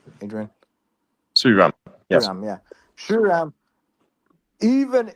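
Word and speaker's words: Sriram: From his point of view, he has decided that Suram, even if he has Suram, how do you pronounce the name? Suram. Adrian. Suram.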